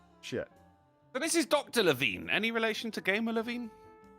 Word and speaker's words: Levine: because it goes back and forth and people pronounce it differently, so I might be lost. It's definitely Levine.